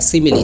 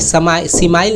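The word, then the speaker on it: simile: सिमिली क्या है, सिमिली सिमाइल नहीं पढ़ दीजिएगा, ठीक है, सिमिली इसका प्रोनाउंसिएशन होता है।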